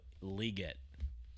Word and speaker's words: Legette: We need a little Xavier Legette in our lives, even though at the Kentucky Derby he pronounced his name.